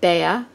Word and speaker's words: Bea: Today's video is a collaboration with Bea Grob, and that is the English pronunciation of her name. She pronounces it Bea, and I believe.